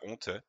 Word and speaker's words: honte: thé très bien honte il reste une dernière lettre qu'on n'entend pas très bien des fois on peut la prononcer tu as honte honte la prononce un peu fort normalement la dis pas tu l'aura peut-être deviné c'est le eu honte c'est une lettre semi muette on va dire on en a besoin parce que sinon ça ne se prononce pas pareil mais on ne l'entend pas non pas le son